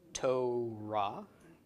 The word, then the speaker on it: Torah: So, Torah is how this is pronounced.